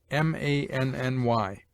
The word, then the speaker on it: many: Many is pronounced as if it were written manny.